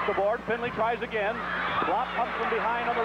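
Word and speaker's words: Blab: His name is spelled U-W-E, Uwe, B-L-A-B, pronounced Blop.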